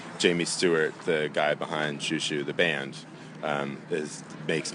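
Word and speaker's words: Xiu Xiu: led to a 10-minute long discussion about proper pronunciation of this band's name oh it's shushu shushu yeah I thought it was shasa which means thank you in Chinese well it's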